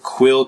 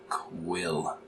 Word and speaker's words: Quelle: to be going over quill cartridges i'm pretty sure that's how you pronounce that q-u-e-l-l-e quill yeah close enough so this is what